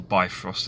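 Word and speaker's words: Bifröst: what be Frost is the be frost or the by frost as you may sometimes hear it pronounced was the Rainbow Bridge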